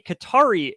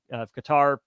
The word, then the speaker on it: Qatar: they call it um of Qatar Qatar I don't know exactly how you say it but that country thing is cutter cutter we'll go cutter um buying a stake